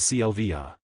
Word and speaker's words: Sylvvaja: Sylvvaja is pronounced as clva.